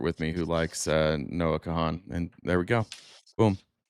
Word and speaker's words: Noah Kahan: That's Noah Kahan. So, okay, then I do know who that is. So, I feel like this is called manifesting. You don't pronounce the H. Noah Khan.